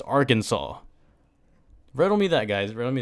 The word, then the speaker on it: Arkansas: in the united states that spelled Arkansas but pronounced Arkansas riddle me that guy's romy that man this